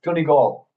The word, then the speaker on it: Donegal: I'm going to pronounce this for you. It's Donegal.